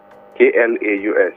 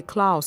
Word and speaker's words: Klaus: is cloud clout sorry i didn't get it spell it please k-l-a-u-s okay klaus okay all right it's klaus okay all right